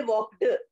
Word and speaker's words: walked: So if you say walk, then you add ed, you pronounce, don't say walked. We say walked, t, t sound. Ed is written. Spelling is ed. It's very distracting because we think it is pronounced as walked. It is not pronounced as walked. It's pronounced as walked, t, t, walked, walked. K and T together, T, T, goes like that.